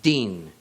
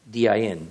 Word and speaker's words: din: in this verse is din, D-I-N, din. Notice the relationship to the word dan, D-A-N. In between the letters dalet and nun, the D and the N, only the vowel sound is changed.